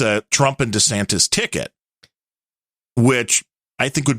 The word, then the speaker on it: DeSantis: the way you because you keep saying dantos rather than DeSantis DeSantis dantos dantas you